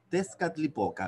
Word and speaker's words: Tezcatlipoca: Oye, sí, ellos usaban mucho la TL en su pronunciación, y los españoles así la fueron después traduciendo. Siempre el uso de la TL, que nosotros no usamos muy, muy comúnmente, por eso se ve difícil.